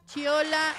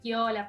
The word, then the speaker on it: Chiola: Y está con nosotros, espero pronunciarlo bien, Chiola. ¿Lo pronuncié bien? ¡Ay, muy bien! Perfecto. Tengo un problema con las pronunciaciones. No, el italiano, viste, que es Chiola, pero yo no lo uso así.